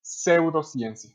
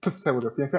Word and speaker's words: pseudociencia: pero la P no, pseudo, pero la P no se no se pronuncia, entonces es pseudociencia. Como en psicología, psicología. Ajá, psicología, aquí es pseudociencia, es pseudociencia.